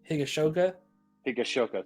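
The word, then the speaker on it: Higashioka: Catchers, we've got I'm gonna try to pronounce this name. Kyle Higashoka. Higashoka, thank you.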